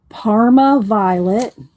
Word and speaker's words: Parma Violet: Okay, then I got Parma Violet.